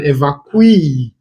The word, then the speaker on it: evacuee: And a person who has been evacuated is an evacuee. Where the stress is on the last syllable. Remember that words that end with ee are stressed on their final syllable.